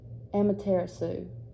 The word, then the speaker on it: Amaterasu: Sue I'm trying to figure out how you pronounce it Amaterasu it's a-m-a-t-e-r-a-s-u so write that down and so